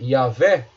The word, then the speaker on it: Yahvé: Talvez isso justifique a presença da letra A no nome Yahvé. Então, você tem a possibilidade, né, desse Yahvé, né, essa possibilidade dessa leitura. Então, a leitura seria Yahvé. A possibilidade está ligada ao